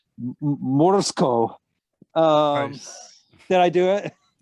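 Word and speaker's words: Morozko: according to the film, I'm trying to pronounce it the way the people in the film pronounce it, Morsko.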